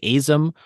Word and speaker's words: AZM: I don't know how you say her name, but you don't say it like the letters. It's like Azam or something.